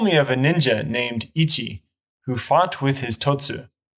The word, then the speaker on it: 一: the kanji for one the onio me or Chinese pronunciation is Ichi or it's uu in the kunio me or Japanese pronunciation is hito or hitotsu if you're not familiar